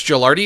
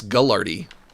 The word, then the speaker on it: Gelardi: You think Gelardi is so great? Nobody even pronounces it correctly. They call me Gullardi.